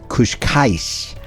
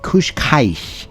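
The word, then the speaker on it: Cascais: the entire area it's a Beach town called kushka and I may not say that one quite right Kush Kai and it's spelled CA c a i s and it consists of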